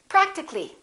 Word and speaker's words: practically: We drop the A and we say practically.